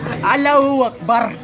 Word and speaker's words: Allahu Akbar: Correction lang sa pronunciation ha. Muslim pod ko. Allahu Akbar.